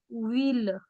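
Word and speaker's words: ville: Okay, बस एक exception है कि वी I double L ई, इसको हम प्रोनाउंस करेंगे व्हील, व्हील. This is an exception to this rule.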